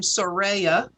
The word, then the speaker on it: Soraya: dr sariah and coley actually she pronounces her name soraya raya thank you i